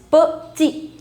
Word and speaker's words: petit: Petit. The last consonant you don't pronounce, so it becomes petit de.